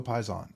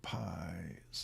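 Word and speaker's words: Paysan: see the Spyder Co Pi's on all right so uh Spyderco Pon I believe it's spelled am I saying it right oh pison pison all right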